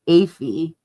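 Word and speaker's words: Alpha Phi: Kayle's and Maddie's top choice is alphi or aphi as it's known pronounced aphy.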